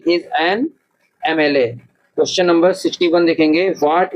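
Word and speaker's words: MLA: देखिए एमएलए का जब हम प्रोनाउंसिएशन करते हैं तो वोवेल साउंड निकलती है, तो यहाँ पर जो है एन आएगा, क्या आएगा, ही इज एन एमएलए।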